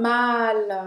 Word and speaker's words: mâle: Vamos agora para o terceiro, que se fala malle também, que é Que é o macho. Un mal. mal. Un mal que se escreve assim, com esse acento circunflexo. un mâle.